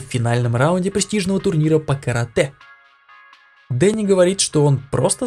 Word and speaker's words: карате: На самом деле это произносится как карате.